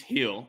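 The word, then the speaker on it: Gil: hits against the Yankees Luis Hill is actually how it's pronounced I I saw that obviously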